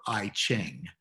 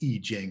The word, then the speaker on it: I Ching: but that's often written and is often uh pronounced as if it were ai ching so if you've heard anybody referring to the i ching they really mean the e jing or the classic of changes the core of